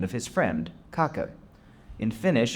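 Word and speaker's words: Kake: and he chose the name of his friend, Kaka. In Finnish, it's pronounced kaka, which sounds like but in English, people said cake, which also means ass.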